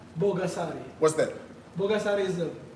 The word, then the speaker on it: Bogasari: This is, it's Bogasadi. Bogasari.